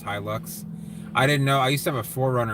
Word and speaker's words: Hilux: still have that truck to you probably yeah hi luck okay so that's how it's pronounced hi looks I didn't know I used to have a